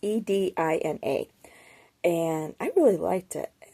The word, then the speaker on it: Edina: I'm not too sure how to pronounce it. It's Edina.